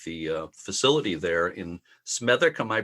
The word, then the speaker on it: Smethwick: what's happening with the uh facility there in smic am I pronouncing that correctly that's absolutely correct smic spawn